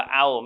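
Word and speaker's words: أو: อิสระ ฟ้า ท้า กับ วาล์ว ซุกูน อ่าน ว่า เอา แปล ว่า หรือ นะ ครับ แต่ หรือ ตรง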